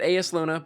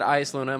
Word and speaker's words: Eyasluna: And I know that some people pronounce it Eyasluna, but I've always pronounced it Eyasluna my entire life, even when I was a kid playing D1, so we're going to call it Eyasluna today.